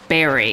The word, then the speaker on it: bury: a later time anyway at least here in america we say barry and not bury even though it's spelled burry that's just another weird